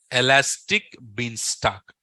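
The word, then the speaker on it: Elastic Beanstalk: is that elastic beanock everyone should pronounce it elastic bean stock write down elastic bean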